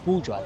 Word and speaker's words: Bhujwa: How do I how do I pronounce it correctly? It's buja that's it's bao bua ba ba also or